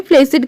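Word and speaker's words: placid: बच्चों प्लेटेड है देखिए इसकी स्पेलिंग इसमें डबल सी है लेकिन इसे हमें प्लेसिड कहना है तो यह कमज़ोर किसी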